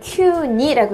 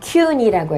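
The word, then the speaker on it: 急に: 서두르다라는 그다음에 이걸 큐니라고 읽으면 갑자기라고 하는 단어로 쓰입니다. 그러니까 이렇게 급자 써 놓고 구라고 돼 있으면 q구가 아니라 이소구. 그다음 급자 써 있고 그리고 니자를 붙이면은 이거는 이속이니가 아니라 큐니라고 해서 갑자기라고 하는 단어가 되는 거죠.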